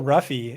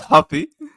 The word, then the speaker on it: Ruffy: is fighting but Mauricio ruffy is fighting James no don't you do that don't you do that that's Huffy you show some respect Portugues James lantop that's a